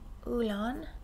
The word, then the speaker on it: Olann: Ulan, that's the way that's the way it's spelled. Olann.